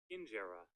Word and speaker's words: injera: They go to an Ethiopian restaurant and enjoy traditional dishes like injera. Is that how you say it? Injera? Injera? Injera? Hold up. Let me look up the pronunciation. Injera. Injera. I was right.